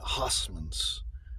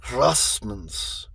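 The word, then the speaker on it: Huysmans: I was calling it Hossmans, but it's Rossmans.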